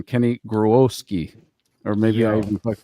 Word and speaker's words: Grohowski: I'm going to go with the original saying, pronunciation, Kenny Grohowski, or maybe I even fucked that up.